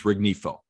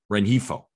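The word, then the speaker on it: Rengifo: seven to one yeah leading off was luis rignifo did i pronounce that jack renjifo excuse me at third base you've got choi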